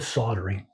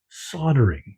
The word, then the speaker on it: soldering: Today we're talking about soldering or soldering, depending on where you live. But here in Canada, we call it soldering. The L is silent.